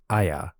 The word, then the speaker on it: Aya: This symbol, which is a stylized pillar or column, is pronounced Aya, and it can mean great or possibly elder.